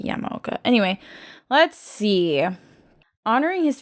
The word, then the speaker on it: Yamaoka: Probably actually Yamaoka, because in Japanese they pronounce every syllable, so it's not Yamaoka, it's probably Yamaoka.